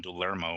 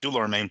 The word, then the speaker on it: Dulorme: I can always get his name wrong. Dulorme, because I want to say like Dulorme. I Yeah, end up in the Dulorme. E and the O. I call him Dulermo or something. So Dulorme, veteran.